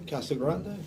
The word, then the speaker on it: Casagrande: How do you pronounce your last name? Castle Grande.